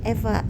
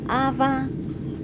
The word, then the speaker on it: EVA: Các bạn Moza thân mến, trước hết, chúng ta phải học cách đọc tên cho đúng. EVA chứ không phải tên phụ nữ Eva hay Ava.